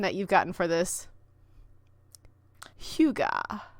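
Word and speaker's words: hygge: you've gotten for this Huga I think it's yeah Huga or something like that you know it's the Danish word for like cozy yes we all know what it is we just don't know how to say uh a cozy outfit for winter Huga I know it's not haggy so you're welcome um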